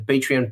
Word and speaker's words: Patreon: besides that we have the patreon page uh patreon that's how you pronounce it it's confusing I know it's confusing and basically um it's easy to find it just hly land.